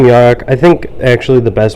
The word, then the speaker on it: Yarok: Yurok. You probably name that. You can name Yarok.